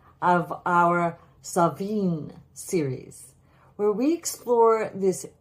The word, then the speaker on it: Samhuinn: So it's Samhain or Samhain, somewhere between a V and a W.